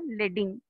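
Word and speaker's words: leading: லீடிங் சொல்லலாம், ஆனால் actually pronounce பண்ணுறது லெட்டிங்.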